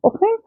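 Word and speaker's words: often: تايمز اوفن اوفن اوفن حرف التي في ناس بتنطقها اوفتن وفي ناس بتنطقها اوفن عادي الاتنين صح بس بفضل ان هي تبقى اوفن وعندنا طبعا يوجوالي يا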